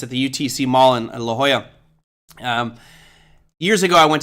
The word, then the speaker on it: La Jolla: at me I'm like if you read it it's spelled lajjala and he's like it's La Jolla and I'm like oh